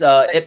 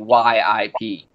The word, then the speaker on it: Ip: Yeah, it's actually his real pronunciation is actually not IP. It's actually YIP, like Yip Man. Yip is Master Yip. Yeah, Master Yip. But in English, they took away the Y for whatever reason.